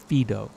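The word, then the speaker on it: Fido: to um Roman times Romans Imperial Romans would name their dog Pho except they would use the Latin pronunciation fedo what's that about a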